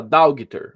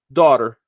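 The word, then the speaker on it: daughter: palavra aqui aí você vai falar daugter a maioria das pessoas vai lhe dar porque dá o g não sabe como ler o h mas ele passa direto então dáugter quando um nativo vai pronunciar principalmente da pronúncia do inglês americano você vai ver falar dor é assim que eu falo por exemplo dólar significa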